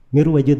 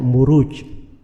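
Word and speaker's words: مروج: dari Raja Ya ruju itu bukan mirwaj bacanya harusnya marwaj sebab bukunya kan setelahnya wa maadin aljauharah itu kalau di bahasa Arab gak dibaca mirwaj tapi dibaca muruj jamak dari marjun maraja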